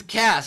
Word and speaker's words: Cass: It's Cass. It's not Case.